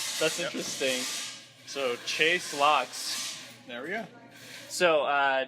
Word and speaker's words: Laux: get off the table right now is the pronunciation of your last name locks locks okay la you X I wasn't sure